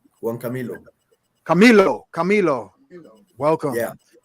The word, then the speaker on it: Camilo: i say your name correctly how is it pronounced juan camilo camilo camilo welcome name of this show tonight